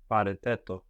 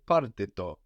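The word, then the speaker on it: πάρτε το: Pareteto. Paretetto. But here, most commonly, you would hear parteto, because the ete contracts very easily with the R.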